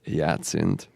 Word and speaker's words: Jacinth: So at Jacinth, as we say, Yacinth. Just replace the I with the 1. There you go. Am I saying it right when I say Jacinth?